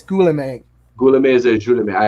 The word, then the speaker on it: Guillaume: Visual effects go to Greg Butler, Dominic Tui, and Guillaume Rocheron. Is that I believe how you say it? I think it's Guillaume.